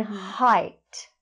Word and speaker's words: height: And then height. Height. So it's not hate. No, actually... That's exactly the problem, because it's spelled the same way, but it's not pronounced the same way.